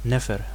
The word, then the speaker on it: nfr: So for example, NFR, beautiful, is just pronounced Nefer.